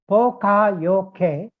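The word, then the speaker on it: Poka-yoke: It's pronounced Pokayoke.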